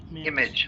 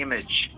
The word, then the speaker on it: image: हाँ, इसको इमेज नहीं बोलना है, इमेज. ऐसे Image. प्रोनाउंस. इमेज. हाँ, this is the right pronunciation. इमेज, इमेज नहीं.